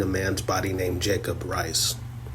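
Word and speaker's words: Reiz: I know they have the issue that this meeting takes place, but the shadow king is inhabiting a man's body named Jacob Rice. It's spelled R E I Z.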